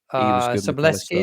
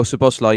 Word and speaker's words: Szoboszlai: It was Gravenberch, McAllister, and Soboleski, is it? I can't pronounce his name. Oh, Szoboszlai.